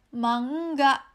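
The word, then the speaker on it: 漫画: Contohnya seperti yang ini bacanya adalah ma-eng-ga, ya, mangga. Orang Indonesia sering sebutnya manga ya, komik Jepang disebutnya manga. Itu salah, yang benar adalah ma-eng-ga, mangga, ya, buah mangganya mangga, ya.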